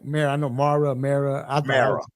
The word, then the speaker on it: Mara: Mara. Yeah. Mara. That's right. Mara. I know Mara. I thought I was pronouncing wrong.